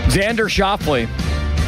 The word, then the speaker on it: Xander Schauffele: How do you pronounce his name? Xander Schauffele.